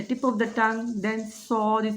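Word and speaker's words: صاد: The inner plates of lower two incisors touch the tip of the tongue, then Sod is pronounced, but a little space is left, so make a whistle sound. Sod, Sod, like this.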